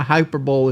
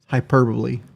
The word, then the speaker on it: hyperbole: like your sex life, a hyper bowl is something that shouldn't be taken seriously. It's a statement that shouldn't be taken seriously. hyperbole. I know I know how to pronounce this. Hyperbole.